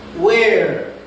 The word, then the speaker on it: where: Where? ¿Dónde? Where? Where? La H es muda. Por eso no se dice where, se dice where.